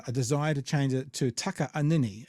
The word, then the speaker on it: Takaanini: to change it to Taka anini it's t a k a a n i n i and it is pronounced with the split in it um I believe that